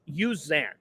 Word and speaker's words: Uzan: the the name right Milos yuzan they do use the U it's in the pronunciation guide and I heard Fran